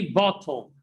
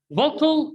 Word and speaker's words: bottle: T متبوعين ب LE, double T here is pronounced. Don't say bottle. Bottle in the British English. British English, ده في الإنجليزي البريطاني. But in the American English, we pronounce it what? Bottle.